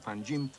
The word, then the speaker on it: Panjim: G but pronounced Pangea Panjim depending whether your mother tongue is Konkani Marathi Portuguese or English until the middle of